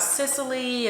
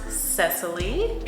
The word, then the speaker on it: Cecily: When my name actually is said, I hear a lot of Cecily and all of those things. So it is pronounced Cecily.